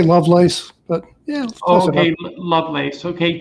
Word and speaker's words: Lovelace: a special guest loveless um am i pronouncing that correctly i say love lace but yeah okay lovelace okay lovelace um